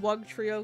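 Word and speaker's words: Wugtrio: a paper cut uh one wug Trio because wug rhymes with dub there's the book let's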